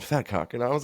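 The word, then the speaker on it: vetkoek: what we have around here it's it's called fatcock and I was like oh brag keep bragging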